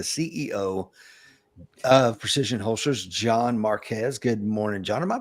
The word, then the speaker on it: Marques: Today, I'm going to be talking to the CEO of Precision Holsters, John Marques. Good morning, John. Am I pronouncing your last name correctly? Correct. Marquez.